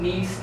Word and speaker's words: Nice: But you can do NICE trademark classification and it should come up. Okay. So Nice, France, so it's not spelled like nice. So it's NEICE or something?